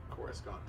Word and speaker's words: Coruscant: up with the name and that's how he pronounced it core is gone yes it is when you say like that